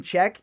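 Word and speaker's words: Czech: So, Bouncing Check, and it's spelled C-Z-E-C-H.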